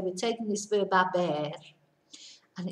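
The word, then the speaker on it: haber: we're taking this verb a bear and it's a very strange little conjugation so bear in mind we don't pronounce the H so it's a ass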